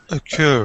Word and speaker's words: occur: I like the pronunciation the second time I heard it, which was without a stress at the beginning. There's a whole load of words like this, occur, with a little vowel, like O here.